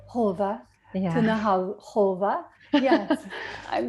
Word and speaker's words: Haave: Haave. Haave.